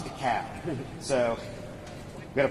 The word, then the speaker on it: DeKalb: It's DeKalb, not DeKalb, not DeKalb, it's DeKalb. So we've got to pronounce these things.